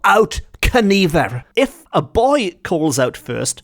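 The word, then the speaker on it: cynifr: one calls out what what I'm taken to be canver it is spelled slightly differently in the book it's been anglicized to c y n i v e r but I'm taking that to be c y n i f r because in the Welsh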